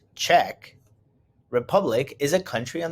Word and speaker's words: Czech: The Czech, pronounced Czech, Republic is a country on the continent of Europe.